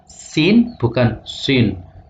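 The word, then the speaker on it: سين: karena pengucapannya adalah ee tarkik bukan tafkhim jadi bacanya sin bukan Sin Sin bukan SH bukan jadi misalnya asatirul Awalin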